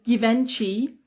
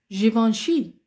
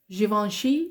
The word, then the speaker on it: Givenchy: famous One okay uh some English people say Givenchy some English people really they they don't have a lot of Education they call it Givenchy um but the correct one is Givenchy yes Givenchy which is what you pronounce correctly Givenchy very